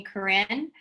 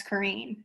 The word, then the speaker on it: Corrine: Please correct me, because a lot of people call me Corinne and it's Corrine.